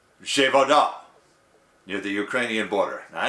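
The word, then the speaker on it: Przewodów: This happened after two men died when a missile fell on the Polish vessel of PRZWODO with an acute accent W, pronounced Zhevoda, near the Ukrainian border.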